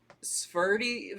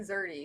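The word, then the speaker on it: Szerdy: Nathan Zerdy. I'm pretty sure is how he pronounced it.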